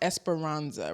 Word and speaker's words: Esperanza: So, so whoever may not be familiar with the is pronounced Espiranza, right?